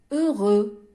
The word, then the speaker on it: heureux: الكلمات التي تنتهي ب EUX لا أنطق الإكس. Exemple heureux.